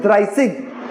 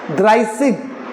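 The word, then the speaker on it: dreißig: इट is known to बी as asset and इट is pronounced as a sharp sound of double S in German language S. सो इट इज ड्राइसिग. ड्राइसिग.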